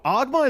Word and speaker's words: Ogma: Even Tiki, Oguma. Oguma, is that what he's called? Oh, Ogma is a great design. I know. Fuck. I was calling him like they pronounced it in the anime dub.